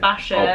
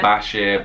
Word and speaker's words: Bashir: go with that yeah is it bashir i've been saying it wrong i said bashar bashir bashir i mean it doesn't